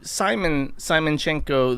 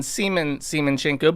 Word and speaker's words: Semen Semenchenko: It's closer to Simon Simenchenko than Semen Semenchenko, but this is a real person.